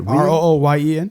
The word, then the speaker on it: Rooyen: Rooyen?